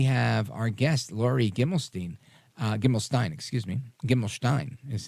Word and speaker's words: Gimelshteyn: Gimelshteyn is how it's pronounced here.